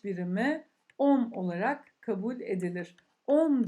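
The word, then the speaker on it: ohm: on olarak kabul edilir on diye okunur arkadaşlar on dur şöyle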